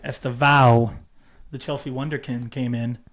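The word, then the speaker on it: Estêvão: Esteo. Estava. Est is the Burnley guy. You're right. Estava.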